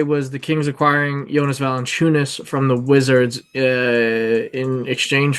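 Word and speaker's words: Valančiūnas: It's Valanciunas.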